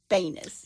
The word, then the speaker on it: Banis: Everybody pronounces his name a different way, but I heard him say his own name, Joey Banis.